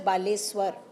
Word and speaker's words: Baleshwar: For example, balasur will be changed to baleshwar pronounced as baleswar.